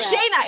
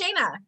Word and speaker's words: Shayna: And sorry, I just remember that it's pronounced Shina. I'm so sorry. I've been pronouncing it wrong. You said it right. You said it right. Shayna. It's Shayna.